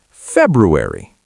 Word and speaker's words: February: February. February. The month. February. Close. But there's a hidden R. It's February, not February.